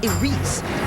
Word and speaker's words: Iris: production will be titled I spelled Iris but pronounced AR which cleverly refers to the opening that controls